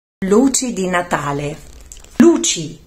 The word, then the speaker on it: luci: luci di Natale luci e non luci come spesso pronunciano molti Romani con la C scivolata Ma luci e può